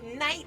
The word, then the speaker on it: Knight: He doesn't even know it was Knight as in Knight. The K is silent, but you still have to type it.